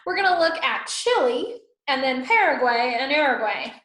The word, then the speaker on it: Chile: So we're going to look at Chile and then Paraguay and Uruguay. All right. So Chile means where the land ends. It comes from the word Chile, C-H-I-L-L-E-I.